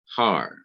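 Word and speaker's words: הַר: This word itself consists of only one syllable, har, which means mountain. And because it only has one syllable, there's only one place that the accent could go, and it's right here.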